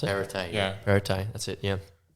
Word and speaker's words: Perrottet: I thought we were just going to, like Dominic Perrottet, pretty sure that's how you pronounce it. Perrottet.